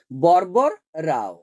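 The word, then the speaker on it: వరవర రావు: সংখ্যা কত 17 টি ভারভারা রাও এর নামটি তেলেগুতে উচ্চারণটি কি বরবর রাও মুনির নাম সৃজনা পত্রিকার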